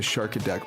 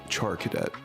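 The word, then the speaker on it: Charcadet: I think that hurt my Char Cadet there we go pronounce it properly now that I'm speaking in public about it I've just since the beginning said shark attack for whatever reason uh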